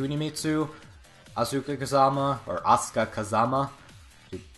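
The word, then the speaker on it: Asuka Kazama: this game are C mitu auka Kazama or ASA Kazama to pronounce it properly Alisa and of course Yoshi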